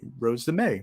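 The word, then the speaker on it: Rose de Mai: may my right wait Rose De May right oh God God Alex am I saying it right Rose De may may may like the month is vintage Paloma Picasso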